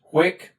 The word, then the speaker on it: huic: The dative forms are a single-syllable word, and they also match. Huic, huic, huic.